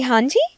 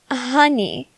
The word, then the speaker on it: Hanji: Can you say Hanji? Oh, no, you're saying something along the lines of honey. I need you to say my name, Hanji, okay?